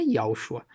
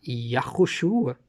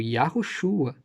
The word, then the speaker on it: Yahushua: Se você sabe a pronúncia do nome dele, e até eu falei de Yahshua, não é Yahshua, o nome era Yahushua, que era o nome hebraico, Yahushua, né?